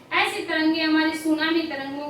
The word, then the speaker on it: tsunami: दो शब्द सु और नामी, टी इसमें साइलेंट रहता है।